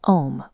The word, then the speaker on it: Om: When pronounced correctly, the sound starts at the back of the throat with the open vowel ah.